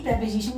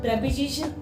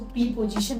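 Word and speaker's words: preposition: आइए प्रेपोजिशन को समझते हैं। प्रेपोजिशन और कुछ नहीं, एक बार पहले प्रोनाउंसिएशन को समझते हैं। बहुत सारे लोग इसको प्रीपोजिशन बोलते हैं, जो कि इनकरेक्ट होता है। इट इज प्रेपोजिशन, इट इज नॉट प्रीपोजिशन, इट इज प्रेपोजिशन।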